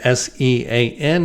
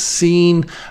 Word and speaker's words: Sean: This guy, he spells his name S-E-A-N. He doesn't pronounce it Sean. He says Scene.